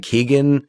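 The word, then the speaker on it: Keoghan: Like Keegan. Keogan.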